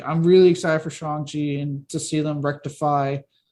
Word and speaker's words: Shang-Chi: i would probably say between like you know shang chi i'm sorry shanxi sorry about i've been saying it like shane